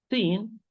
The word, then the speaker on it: س: They are the end of the tip, end of the tip, with the bottom of the lower central incisors from inside.